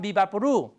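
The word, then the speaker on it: VapoRub: no vix Vapor WRA how does VI's Vapor WRA become vapuru because vapuru is the type of syllable we have in Spanish vix is not a syllable of Spanish rap is not a syllable of Spanish we have to adapt it into our phonotactics the phot tactics of the Spanish language okay that's important the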